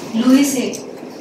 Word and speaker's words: Louis: So the S is silent. You can take it for granted. Any French name, something is silent. What is silent, you have to figure it out.